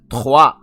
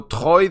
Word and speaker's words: Troyes: It's your boy PSGINT here, back with the preview for Paris Saint-Germain contre Troyes. They are pronounced Troyes and not Troyes.